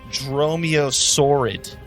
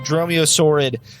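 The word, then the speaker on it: dromaeosaurid: you about the weaknesses it is called a dromiosaurid d it's spelled strange d-r-o-m-a-e-o-s-a-u-r-i-d it is a dinosaur but they're freaking awesome but they're freaking awesome well dinosaurs are awesome yeah this is a dromeo sword they're like they're kind of like raptors they're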